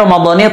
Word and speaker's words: Ramadhani: Yang betul bacanya adalah Ramadhani. Kenapa Ramadhani? Karena menurut ilmu nahu, isim ghair munsharif, isim ghair munsharif itu kalau jar maka dengan fathah, kecuali kalau dia diidhafahkan maka tetap dengan kasrah.